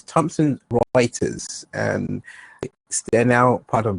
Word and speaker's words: Thomson Reuters: Just to correct you on the company that you was trying to pronounce is Thomson Reuters, and they're now part of Bloomberg.